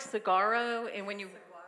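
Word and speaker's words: saguaro: me it looks like sagaro and when you how do you pronounce it sarro I don't think there's a hard G in there when you say it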